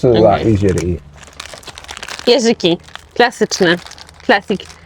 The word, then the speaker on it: jeżyk: Jeżyki.